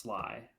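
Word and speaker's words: Sligh: uh is it is it's pronounced is it pronounced Sly It's s i g h I'll here on screen here boss Sly there you go nicknamed after Tom the boss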